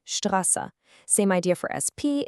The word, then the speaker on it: Straße: When st is at the beginning of a word or syllable, it's pronounced st, like in Straße.